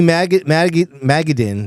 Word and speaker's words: Madigan: And um I thought Amy Maggaden, that's how you say her name. Madigan Madigan.